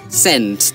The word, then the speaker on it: scent: So, scent, the silent letter, it can either be S, it can be C too. But for this, I'm going to say C.